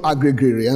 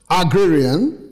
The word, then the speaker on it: agrarian: are agreeing in culture not agrigrin like i said some time ago bad pronunciation agrarian genesis 4 verse 2